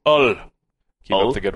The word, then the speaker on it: Hull: it must be pronounced Ull. Keep Ull? Up the good work, guys. Like it's French? Like you just drop the H completely?